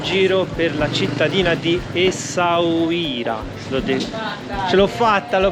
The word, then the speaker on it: Essaouira: Buongiorno ragazzi, nuova giornata, siamo sempre in giro per la cittadina di Essaouira. Ce l'ho fatta, l'ho pronunciato bene dopo 12.000 tentativi.